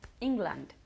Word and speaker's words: England: ¿Cómo pronunciamos Inglaterra? England. England. ¿Y no? England. So, England. ¿Dónde cae o recae el énfasis? En la primera sílaba.